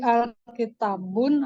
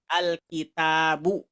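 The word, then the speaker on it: الْكِتَابُ: sama gimana Iya ya alitabun atau Alkitab Oh iya kalau udah sebelum ada sebelum ada alif lam bacanya kitabun pakai tanwin ketika ada alif lam maka tanwinnya hilang diganti dengan Dom biasa alkitabu gitu ya Oh I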